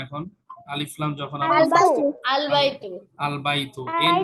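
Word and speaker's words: الْبَيْتُ: এই যে এখানে তায়ের উপরে দুই পেশ ছিল আগে, বাইতুন, এই এন উচ্চারণ হইতো, ডেফিনিটের ক্ষেত্রে তখন আর এই আল বাইতুন এনটা আর উচ্চারণ হবে না।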